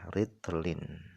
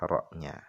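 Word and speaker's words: رطل: Dengan membaca "ra" dengan kasrah, "ritlin," maka pengucapannya lebih fasih daripada membacanya dengan fathah, "rotlin, " jadi "ritlin" dengan kasrah lebih fasih.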